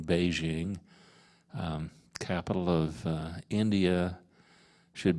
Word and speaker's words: Beijing: just like you know when I was younger we called the capital of China pay King and should have been Beijing um capital of India